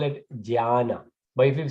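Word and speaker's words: ज्ञान: So it's actually pronounced Jnana, Ja. But well, it's familiar. It's Gyana. But the spelling is this. So this is Gyana, right? The way we should pronounce actually Jnana.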